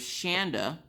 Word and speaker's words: Shanda: Well, one of my awesome viewers, Shanda like panda.